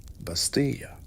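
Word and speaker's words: bastilla: Bastia, if you want to say it like a local, don't flinch.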